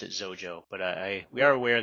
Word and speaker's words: Xojo: and it is pronounced Oh Joe almost as if it started with a Z at least for English speakers so we pronounce it as Oh Joe but I we are